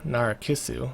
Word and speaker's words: Narcissu: the first time that it keeps us ah Nora kissu that's how you say it law saying lately